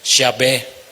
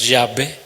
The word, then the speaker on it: Yahvé: Bueno, Jah es la forma abreviada del nombre de Dios, Yahvé. Bueno, su nombre no tiene vocales en el original, pero para poder pronunciarlo, nosotros le agregamos las vocales, Yahvé.